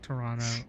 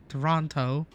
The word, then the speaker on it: Toronto: like fly to like Toronto Toronto or Toronto is it really with the silent T yeah no is it really the touristy way of saying Toronto well that's the Filipino way to say Toronto we don't say the tea ever care about that